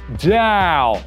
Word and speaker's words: DAO: Ça se prononce « DAO ». Vive les diphtongues.